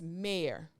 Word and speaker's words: Maire: It's not in my notes, but my last name is Maire, which happens to rhyme with hair because I am everything about hair.